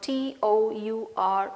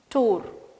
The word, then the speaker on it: tour: We always used to pronounce this word T-O-U-R as tour. But this should be pronounced as tour. This is not tour, this is tour.